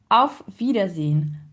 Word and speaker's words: Auf Wiedersehen: En fait, on prononce toutes les syllabes, contrairement à l'anglais, par exemple, où on avale des syllabes. Là, vraiment, vous pouvez vous permettre de le dire tranquillement, en fait.